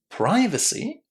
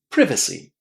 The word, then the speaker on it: privacy: We can either say privacy or privacy. Completely up to you. You have flexibility, full flexibility in terms of how to say this word.